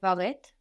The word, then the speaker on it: baguette: would you say do you want a baguette the in bagette the two baget or like I mentioned in some dialects of French we might hear un but if we had that accent to pronounce the E on the end of then we would also do that on baget but that's not so common in French